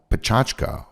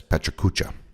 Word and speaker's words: PechaKucha: comes out of Tokyo called Pachachka, sometimes mispronounced as Pechakucha.